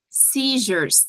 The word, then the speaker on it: seizures: tem um chiadinho emotions seizures essa é uma palavra que aparece 1 milhão de vezes quando a gente tá estudando prolex E ela é bem complicadinha de falar então se o som de um J se drains drains também